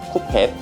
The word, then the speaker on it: 쿠펫: 조금 발음이 이상할 수도 있는데 쿠펫이에요. 쿠펫.